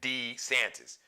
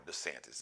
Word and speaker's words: DeSantis: Governor Death Wish, as I call him, Governor DeSantis, or DeSantis, depending on what day of the week he pronounces it differently.